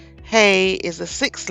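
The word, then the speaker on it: ה: Hey is the sixth letter. It is pronounced H, as in horse, transliterated as H.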